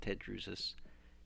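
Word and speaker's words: Tedrusus: Like TEH, never the, always te. So that's how Tedrusis came to be, and that's how Tedrusis is pronounced.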